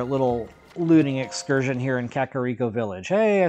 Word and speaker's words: Kakariko: continue on our little looting Excursion here in kakaro Village hey I said it right that time